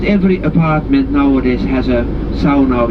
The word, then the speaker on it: sauna: You know that sauna, S-A-U-N-A, sauna, pronounced in Finnish, that is heated, traditionally using wood, but nowadays of course electricity as well.